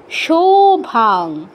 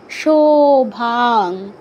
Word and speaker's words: শোভা: বলা মালয় কানকভূষণ মালিয় সোভা সভা সুভা কিন্তু নয় উকার নয় আবারো বলছি ওকার ওকারকে উকার বলা যাবে না সভা অথবা সোভা পিতাম্বরাং কানক ভূষণমালিয়া শোভা তারপর দে দেতে দীর্ঘ